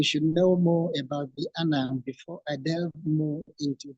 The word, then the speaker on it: Annang: One is spelled A-N-N-A-N-G, still pronounced Annang.